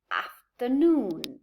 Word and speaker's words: afternoon: the moment of speaking so we have the word afternoon this this symbol i have here as a question mark is a secondary stress so the main stress would be here noon but but what may